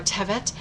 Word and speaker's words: Tevet: If you've been here with us before, you know that I am very inconsistent on which syllable I place the emphasis on due to growing up learning Ashkenazi Hebrew and then as an adult trying to study modern Israeli Hebrew.